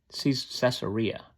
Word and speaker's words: Caesarea: Caesarea, I think is how they often pronounce it.